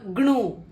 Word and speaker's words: gnu: This is not gnu or gnu. This is also pronounced as new.